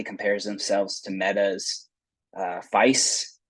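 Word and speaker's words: FAISS: themselves to meta's uh feice as AI pronounced it to me fais Vector index the Facebook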